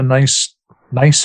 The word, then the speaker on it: NICE: Could you tell us a little bit about the NICE framework? And am I pronouncing it? Is it pronounced nice?